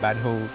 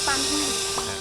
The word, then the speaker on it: Pànhòu: Và khi mà người nước ngoài đến đây để giám đốc em thì không quen theo nói theo tiếng địa phương mà anh phát âm thành cái Banhu.